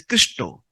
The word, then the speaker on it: Krishna: Because in India, Bengalis people, when they use the word Krishna, they pronounce it as Christo.